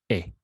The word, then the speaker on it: he: going to be a repeat after me e don't confuse that with he in english because it might be a bit misleading so the pronunciation for